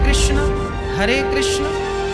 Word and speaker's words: कृष्ण: शुद्ध उच्चारण इसका क्या है? हरे राम राम राम हरे हरे, हरे कृष्ण कृष्ण कृष्ण हरे हरे।